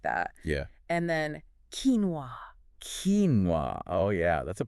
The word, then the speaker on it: quinoa: But it's quinoa. Quinoa. Quinoa. And the Master English podcast tells us that this is closer to the original pronunciation. Yes. It has Andian origins.